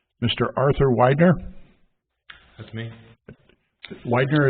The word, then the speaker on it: Widener: Widener is correct pronunciation? Thank you, sir. Unless you were German, it would be Weidner.